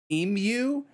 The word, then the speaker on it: emu: slash e m Dash e o u so emu it's not e Dash m-o-o like how we